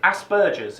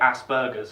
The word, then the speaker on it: Asperger's: Asperger's is how we pronounce it. For some reason, the Yanks like to say Asperger's because, that makes it really...